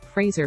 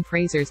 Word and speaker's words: Fraser: the belief that Brendan Fraser's name is pronounced like Kelsey grammer's Frasier Crane the titular character in Frasier there is no I in Fraser so why would it be pronounced like Frasier also Frazier started in